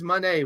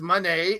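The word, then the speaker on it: Moné: for the the Mercedes Monee one she says Monee like money not Monae she's not a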